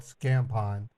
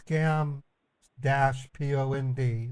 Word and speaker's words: Scam-pond: Chappie runs the division on my channel that's called Scam Pond. It's scam -pond, not scam pond, not like tampon, but I probably shouldn't have even said that.